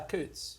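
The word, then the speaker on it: Coutts: had uh bank accounts at I'm probably gonna mispronounce this Coots yeah Coots Coots good job all right look at this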